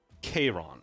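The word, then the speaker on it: Charon: the oculus of abaddon k-ron is apparently how you pronounce that there's no cha what do you mean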